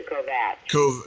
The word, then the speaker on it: Kovac: Do you pronounce it Kovac or Kovac? Kovac, it's Croatian, but my dad's mother was Irish 100%.